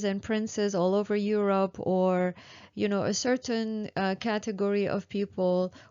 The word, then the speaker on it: or: Or if you go to Canada, that will be something very different as well.